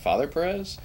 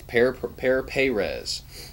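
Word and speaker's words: Pere Pérez: Is that Father Perez? It's Pear Perez.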